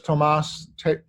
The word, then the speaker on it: Thomas: Well, his name is Tomas, spelled like Thomas, Hübl, H-U-B, as in boy, L, Hübl.